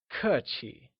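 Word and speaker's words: 客气: at polite in Mandarin polite literally translates to cut Qi where kur is pronounced using a falling tone and Qi with the neutral tone can you try and say coochie great now let's say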